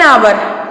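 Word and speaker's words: hour: Second point, N इज use before those words in which H is silent. अब देखो कुछ word ऐसे होते हैं जहां पे एच साइलेंट हो रहा है, साइलेंट हो रहा है ना एच, तो जैसे एन आवर,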